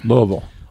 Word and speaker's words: Louisville: louisville i do know the proper way to pronounce this city louisville louisville that's right if you live there you say